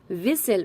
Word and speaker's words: whistle: विसल, मैं पढ़ रही हूँ विसल, लेकिन इसकी स्पेलिंग क्या है, WHISTLE। इसे पढ़ा क्या जाएगा विसल।